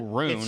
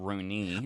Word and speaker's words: Remo Rune: Remo just told me that his last name is pronounced Rune, not Rooney. I actually, low-key, when I was reading, I was like, I think that I is not really making a sound there. I think it's Rune.